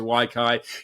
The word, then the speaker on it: WAIKAY: So and it's as you say, you pronounce it WaiKay. It's impossible to pronounce.